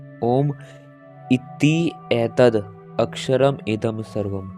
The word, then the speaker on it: ओम: उच्चारण की दृष्टि से ओम में 3 ध्वनियां हैं, अ, उ तथा म।